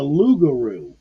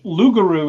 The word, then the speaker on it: loup-garou: In the movie, they were talking French, and they were pronouncing it the lougarou. Well, in French, loup-garou is the French word for werewolf.